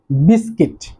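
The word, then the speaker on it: biscuit: খেয়াল করবেন এই বিস্কিটের মধ্যে যে ইউ লেটারটি রয়েছে এটি কিন্তু উচ্চারণ হচ্ছে না, এই ইউটি হচ্ছে সাইলেন্ট ইউ।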